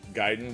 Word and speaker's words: Gaiden: I'm just saying I I pronounce it Gaiden because I think that's the way the the the Japanese say it but uh um uh